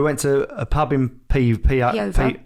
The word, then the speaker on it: Peover: Saturday we went to a pub in Peover. We say it wrong. Peover.